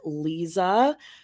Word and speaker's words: Liza: entire time um it it's spelled Liza l i z a but she pronounces it Lisa Trager t r t